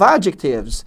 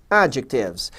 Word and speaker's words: adjectives: A sílaba tônica é essa primeira aqui, ó. adjectives.